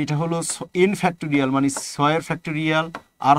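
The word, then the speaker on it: factorial: কথাটা একটু মনে রাখো এইটার উচ্চারণটা হচ্ছে ফ্যাক্টরিয়াল হ্যাঁ ফ্যাক্টরিয়াল তো এই ফ্যাক্টরিয়াল কে ভাঙ্গানোর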